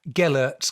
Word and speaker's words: Gellert: going to have to correct me on the pronunciation, Gellert's grave in Carnarvon, which is one of those